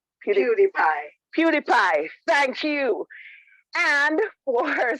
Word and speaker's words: PewDiePie: uh you mean the most popular youtuber name pewdiepie pewdiepie thank you and for speaker number two